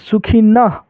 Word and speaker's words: सुखिनः: तो यहां पर अ के मात्रा है यानी ह पढ़ेंगे। ठीक है? ओम सर्वे भवंतु सुखिनः नः के बाद ह सुखिनः नः नः लास्ट में ह बोलना है।